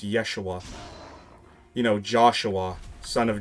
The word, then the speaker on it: Yeshua: so the name is actually apparently for a time supposed to be pronounced Yeshua.